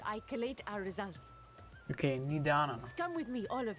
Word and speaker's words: Nidana: Okay, Nidana. Come with me, all of you, and I can explain the crux of the situation. Gut, dann weiß ich jetzt schon mal, wie der Name ausgesprochen wird. Nidana.